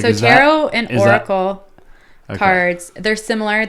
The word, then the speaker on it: tarot: Like, so tarot and Oracle cards, they're similar. They're different. Tarot or tarot? Tarot. Okay. Tarot. OT. Oh, it is there, but it's a silent.